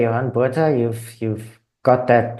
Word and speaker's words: Johan Botha: Uh yeah, as you you rightly say, Yan Bha, you've you've got that pronunciation just right.